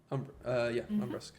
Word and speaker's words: Umbrusk: Not exactly thrilled with the accommodations, but How do I pronounce her name? Lady Umbrusk? Umbrusk.